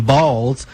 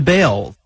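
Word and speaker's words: Baals: After all, the family did change the pronunciation of their last name from Balls to Bail.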